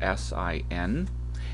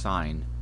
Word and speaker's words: sine: You'll see just the word the letters s i n and it's just an abbreviation for the word sign. It's still pronounced sign not sin.